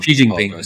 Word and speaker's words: Xi Jinping: Xi Jinping, yeah.